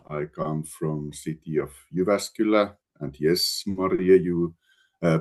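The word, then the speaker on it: Jyväskylä: I come from city of Uvascula and yes Maria you uh pronounce it uh perfectly Uvascula and I come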